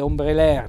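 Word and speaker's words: ombrelèr: alcune note formali vedete ombre l'air naturalmente l'accento tonico sulla ultima e che diventa cento fonico aperto ombre l'air plurale ombre larry è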